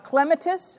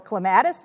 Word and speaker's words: clematis: Moorfield's leatherflower is a clematis or clematis, depending on how you say it.